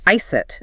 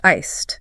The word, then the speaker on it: iced: It often ends with a clear T sound, so it sounds more like ice it rather than a soft iced.